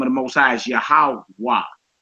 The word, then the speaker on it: Yahweh: the Most High is Yahweh. The last letter you hear pronounced is the W, the Wah. You don't hear the hey at the end of it.